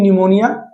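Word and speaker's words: pneumonia: ऐसे एक बीमारी होती है निमोनिया डिजीज होता है। तो यहां पे भी आपका पी साइलेंट होता है। तो यहां पे भी इसकी स्पेलिंग जो होती है पी से शुरू होती है लेकिन साउंड एन से निकलेगा।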